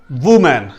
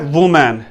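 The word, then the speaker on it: women: पांचवा हमारे पास है वुमेन। अक्सर कहा जाता है वुमेन, लेकिन वुमेन असल प्रोनाउंसिएशन नहीं है, ये इनकरेक्ट है। एक्चुअल क्या है जी? विमेन, WIVMEN, विमेन, विमेन।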